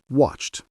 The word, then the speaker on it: watched: So, some verbs end in a t sound like watched. Can you hear it? Watched. Then some end in a d sound like played.